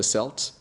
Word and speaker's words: Celt: called the dream of the selt or the celt depending how you how you pronounce it uh that is a